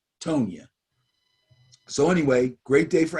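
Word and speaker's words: Tonyan: him i'm telling you robert tony i think it's pronounced tonya so anyway great day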